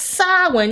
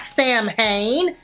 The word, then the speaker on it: Samhain: called champagne silent barb it's pronounced silent not samhain get it together you